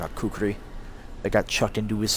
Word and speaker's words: kukri: Maybe you don't know what a kukri is. Especially since it's spelled differently than it's normally pronounced. Which is, it's spelled kukri. But there's supposed to be an extra syllable in there.